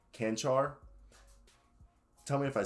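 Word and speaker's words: Čančar: Vlatko, I think it's Canchar. Tell me if I said that. Someone told me how to say it, and I said it last time correctly, but I forgot about it. I think it's Chanchar.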